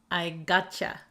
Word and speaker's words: gotcha: I understand you but here we say it really quickly so we say I get you or I got you because youu often gets shortened to y y I get ya I geta I geta I got ya I gotcha okay so that's the